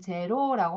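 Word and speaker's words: zéro: 영어에선 제로라고 하죠. 제로라고 하는데 프랑스어에서는 이렇게 읽습니다. 자, 에흐 발음 때문에 이렇게 읽는 거예요.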